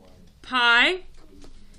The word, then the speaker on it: pi: letter okay and we use it in math pi spelled p i pronounced pi in math in seventh grade in